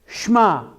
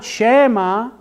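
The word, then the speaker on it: שמע: have it there if it's Sh'ma it's not Shaima it's not Shaima it is Sh'ma so that's why I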